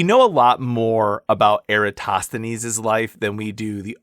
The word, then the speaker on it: Eratosthenes: So the first person I want to introduce you to is Eratosthenes of Cyrene. So Cyrene, also pronounced Kyrene, or if you lived in the